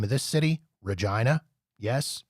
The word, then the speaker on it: Regina: name of this city, Regina. Yes, it's pronounced like that. It is not pronounced Regina. It is pronounced Regina, and it rhymes with what you think it rhymes with.